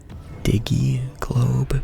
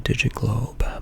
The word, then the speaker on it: Digital Globe: I think um one of my sort of knee-jerk reactions was to call it diggy globe because I think that's how in Finnish we would probably think to say it like diggy diggy globe but it is the digital globe black market goal explosion.